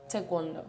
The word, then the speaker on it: taekwondo: You say it properly. Tawondo. Yeah, cuz I say taekwondo. I say that, too.